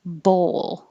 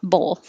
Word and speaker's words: bowl: of like cotton, or bowl. Bowl. It's almost two syllables if you say bowl. So make sure you round your lips and then unround your lips for the L.